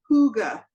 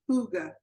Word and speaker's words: hygge: for h-y-g-g-e it's pronounced hyuga like huge but hyuga the G is a heart G hyga okay yeah and folks